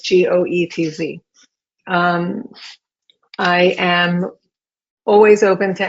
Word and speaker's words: Goetz: And in Goetz, the O is silent. So it's Goetz.